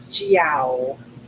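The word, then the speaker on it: zhao: my pages stuck together jiao it's spelled z-h-a-o and as far as i can tell from listening it's like jio bring the feet together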